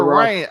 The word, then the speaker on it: Raine: Yeah, Ava Raine, Raine. So it's like rain, but rain.